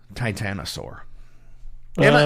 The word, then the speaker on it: titanosaur: weeds tell everybody about titanosaur first off am I saying it right yeah yeah actually you know what you're one of the first people who says it right for some reason other people have trouble saying it really